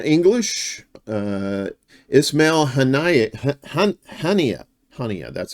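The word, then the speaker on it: Haniyeh: from uh almadine English uh isma Han hania hania that's how you say it isma hania assassinated and who is isma hania uh so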